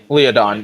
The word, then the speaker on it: Leodon: Is it Leodon? Leodon, yes. Okay.